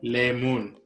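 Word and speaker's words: leemoon: So the way you pronounce it is lemon, lemon, lemon.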